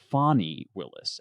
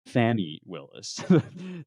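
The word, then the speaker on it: Fani Willis: these cases um is that it's it's actually pronounced fonnie Willis and not right Fanny Willis the attorney in this case for Fon County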